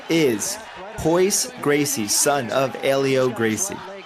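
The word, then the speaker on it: Royce: it's funny right cuz in Brazil they say their RS as H's so like ho is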